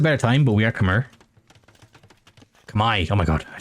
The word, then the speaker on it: Khmer: Why is Khmer pronounced Kamai? I was just told that it was, and I saw a YouTube video where a dude who speaks the language says that it is Kamai, and that apparently like